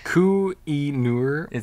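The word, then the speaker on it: Koh-i-Noor: is a coin queen do you know how to pronounce that ku e newer k-o-h-i dash n-o-o-r uh and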